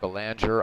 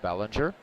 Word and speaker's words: Belanger: Mark Ballinger steps in I know some people uh pronounce it Belanger I'm gonna go with Bellinger and he has yet